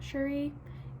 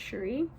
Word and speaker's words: Cherie: to be Sherry shurifet I think you pronounce her name Cherie it reads like Cherry but I'm pretty sure it's shuri um and she was